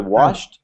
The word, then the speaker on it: washed: When on that word, sometimes the ed just sounds like a t. So for washed, it's just like it's washed with a t sound at the end.